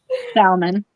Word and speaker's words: salmon: did I say salmon don't pronounce the L that's the way I've